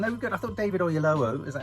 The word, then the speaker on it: David Oyelowo: I thought David Oyelowo, is that how you pronounce his name? Yeah. David Oyelowo.